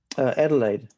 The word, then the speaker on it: Adelaide: how you pronounce this, Adelaide? Adelaide, yeah, Adelaide, close. Australia. It's very close.